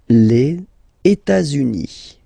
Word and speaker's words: les États-Unis: Les États-Unis. Okay, so if we make every links, we'll have it here and then here.